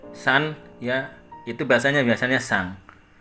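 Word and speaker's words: さん: Kemudian ada tulisannya di sini san ya, san. Biasa saya bacanya sang ya.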